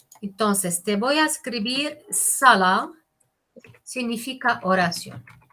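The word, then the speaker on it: صلاة: Entonces, te voy a escribir sala. Significa oración. Es una sa fuerte, no es se, es sa. Como duplicado la letra, duplicada. Sala.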